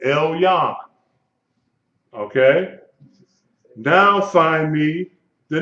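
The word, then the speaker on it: עליון: Elyon, Lamed, and then the Y-O and the final noon, Elyon.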